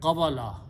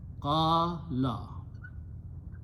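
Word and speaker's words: قال: Okay, but try to pronounce, it doesn't look very good. Qabala. Okay, so Arabs made it somewhat smooth. Okay, so what did they do? They said the sound of Waw with the Zabar is the sound of Alif. Zabar is the sound of Fatah or Alif. So they changed that word in writing as Qala. Okay. Change the Waw into an Alif and pronounced as an Alif. Qala.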